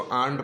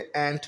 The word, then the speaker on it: ant: अच्छा, बहुत से लोग इसको आंट पढ़ते हैं, जो कि गलत प्रोनाउंसिएशन है। आंट में तो आंटी होता है ना, इसके एंट पढ़ते हैं। एंट माने चींटी, ठीक है।